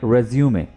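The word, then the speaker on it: résumé: कहलाता है रिज्यूमे, right, रिज्यूमे। यहाँ पर आप ई को प्रोनाउंस करेंगे, याद रखिए।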